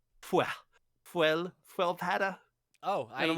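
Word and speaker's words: sköldpadda: That is turtle in Swedish, and it's not pronounced skolpada or anything like that. It's fuelpada. Squilpada? Fuel. Squel? It's like an F sound, like skull is like fuel, fuelpada.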